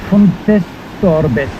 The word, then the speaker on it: Fontestorbes: Fontestorbes, quelque chose comme ça. Comment tu le prononcerais, toi, le nom? Fontestorbe. Fontestorbe, ouais, il n'y a pas le S. Pas de Storbet.